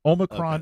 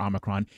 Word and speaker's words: Omicron: I will accept both of them. Omicron, okay. Or Omicron.